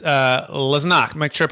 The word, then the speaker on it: Lesniak: Please welcome to the show with me, and it's Lesniak. Make sure I pronounce that correct. I probably butchered that a little bit. How'd I do? Close. Lesniak.